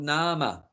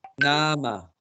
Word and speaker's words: nama: name and sense it's called nama n-a-m-a nama long a nama and you can also